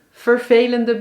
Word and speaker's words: vervelend: Nou, bijvoorbeeld in vervelend is het een e, want de letter wordt gevolgd door maar 1 l.